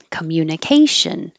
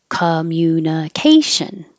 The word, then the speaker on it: communication: And communication, communication. This is a good example of words that end with shun, Tion, Sion, Cion. Those are the syllable before those will be stressed.